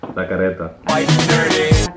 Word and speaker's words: La Carreta: How do you say it? Carreta? La Carreta. La Carreta. Yeah, I mean Spanish.